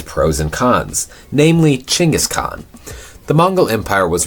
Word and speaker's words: Chinggis: Genghis is the English translation of the Mongolian Chinggis. It's phonetically pronounced Chinggis.